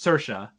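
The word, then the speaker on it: Saoirse: circa ronan how do you say her name sercia sercia yeah never knew how to say it she explained in interviews it's just she says inertia but with an ass so just sercia oh teresha gotcha okay yes cool all right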